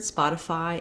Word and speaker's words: Spotify: like city or pretty the letter y says the e sound in this word spotify it says the i diphthong i've rewritten that here for you with igh just because it's hard to show you a way to spell i that's consistent but the letters igh like in fight have that same eye vowel fight night light so